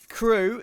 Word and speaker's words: KRÜ: He said, Crew is a native Spanish team, and their name is pronounced how in English you'd say crew.